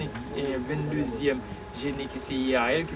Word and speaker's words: Yeiahel: Ça, c'est le prière adressé avec le 25e et 22e génie qui c'est Yahel, qui s'écrit Y-E-I-A-H-E-L, et c'est un trône.